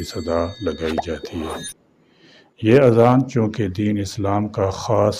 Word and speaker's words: اذان: اذان کہا جاتا ہے۔ بعض لوگ الف پر مد کے ساتھ اس کو آذان کہتے ہیں۔ یہ غلط تلفظ ہے۔ آذان جمع ہے اذن ان کی، اور اذن کے معنی ہے کان۔ درست تلفظ اذان ہے، یعنی الف پر مد کے بغیر۔ اذان کے لغوی معنی